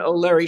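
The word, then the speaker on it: O'Laoire: very important title setting God free with O'Leary how do I pronounce your last name correctly because it's spelled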